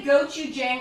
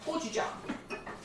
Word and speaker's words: gochujang: If you say gochujang, I'll still love you. But gochujang. Get it? Gochujang. A lot of people mispronounce it, but that's okay.